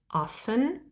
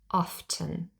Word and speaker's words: often: has two optional pronunciations we can say often and drop the T but but we can also say often there are two Alternatives